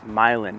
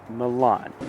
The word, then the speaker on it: Milan: the town of myland yes it's pronounced milin not Milan what if you're moving here and you pronounce it Milan people are going to